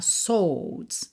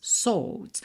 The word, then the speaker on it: swords: Aqui é muito importante pra você lembrar que a gente não pronuncia o "w" de "swords", então não é "swords", tá? "Swords", "swords". Como ele também não enrola o "r", né?